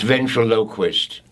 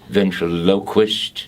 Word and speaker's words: ventriloquist: Bernard crate who is a local ventriloquist it's ventriloquist that is the correct pronunciation venture Lok wished well how about that ventriloquist ladies and gentlemen